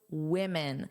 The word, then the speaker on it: women: So notice the pronunciation is similar, but the vowel is different. So although the spelling is the same at the beginning, that's actually where the sound difference is the most pronounced.